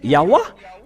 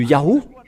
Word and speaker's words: Yahweh: Ils devraient prononcer Yahweh. Mais pourquoi ils ont resté au niveau de Yahoo?